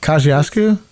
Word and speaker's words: Kosciuszko: problems we're in right now but i can't pronounce that bridge in brooklyn that connects queens that the bqe runs over it's like kosciuszko yes thank you yeah not the pulaski but